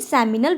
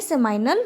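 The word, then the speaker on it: seminal: ये होती है सेमिनल वेसिकल। क्या होती है? सेमाइनल वेसिकल या सेमिनल वेसिकल, कुछ भी बोल सकते हैं, वो अपना अपना प्रोनाउंसिएशन का है।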